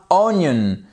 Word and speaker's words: onion: comme un i cour après on a onion qu'est-ce qui s'est passé bon là notre i notre second I on l' prononcé comme